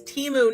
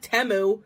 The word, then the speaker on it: Temu: they're freaking gaslighting you the name of the company is Teemu not temu I'm going to be